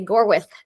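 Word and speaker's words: Gorwydd: learned the proper Welsh pronunciation of it it's spelled like gorwood um but you have to say gorth um and um the brothers visited Us in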